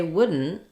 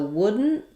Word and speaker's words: wouldn't: So wouldn't, the trick is that I don't release that D. The letters OU have the sound, like in good or book or push.